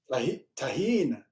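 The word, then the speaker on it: Tajín: Taheen. Tahin.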